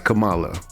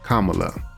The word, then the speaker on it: Kamala: WWF from the WWE as Camala that is how that name was pronounced it's only now that we've gotten the name Kamala so forgive people for